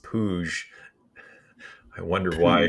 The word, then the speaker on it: Puig: Puig is pronounced Pouge. I wonder why. Pooge.